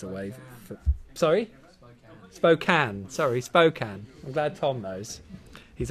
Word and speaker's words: Spokane: Sorry, Spokane.